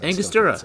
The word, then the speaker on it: Angostura: Angostura.